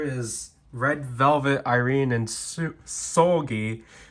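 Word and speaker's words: Seulgi: So, this is flatter than I was anticipating it, but here is Red Velvet, Irene, and Sugi, Sugi, not Soggy.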